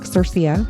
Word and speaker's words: Sercia: So it reads like Circia for anyone who wants to know phonetically.